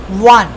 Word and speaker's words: one: So in these cases we can say this the one is actually containing W sound one W the sound is